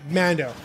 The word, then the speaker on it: Mando: away with 17 and I believe it's pronounced Mando. Yeah, Mando. I keep thinking it's like Mandalorian, but I think it's yeah, it's like Mandalorian, but Mando.